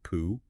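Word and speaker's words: P'u: Well, Hoff jumps right into a central Taoist idea called Pooh. You pronounce it just like Pooh, and it means the uncarved block.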